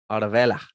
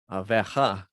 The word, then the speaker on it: Oliveira: If Dustin Poirier destroys Charles do Bronx, Aravela, Aveja, because they pronounce their R's like an H in Portuguese in Brazil.